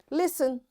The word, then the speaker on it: listen: So we have to just learn these words how to how we say it because in all these words letter T will be silent like listen this is a common